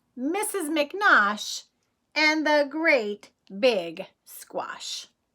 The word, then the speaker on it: McNosh: on the front cover mrs. mcnaught rhymes with squash cuz they both end in Osh let's see if you